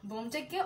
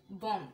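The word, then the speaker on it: bomb: bin diffused and light is diffused তার মানে বোমটা diffuse করা হয়েছে বোমটাকে অপসারণ করা হয়েছে এন্ড লাইটটা ছড়িয়ে যাচ্ছে লাইটটা ডিফিউজড হয়ে যাচ্ছে এন্ড ওয়েল এখানে একটা জিনিস ছোট একটা জিনিস খেয়াল করি সেটা হচ্ছে বম বি ও এম বি এটার উচ্চারণটা কিন্তু বম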